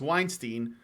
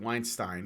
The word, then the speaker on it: Weinstein: Ashley Judd's sexual harassment claim against Weinstein, or is it Weinstein? I think it's Weinstein. Against Weinstein, dismissed. Yeah, it's spelled Weinstein, but it's pronounced Weinstein, at least here.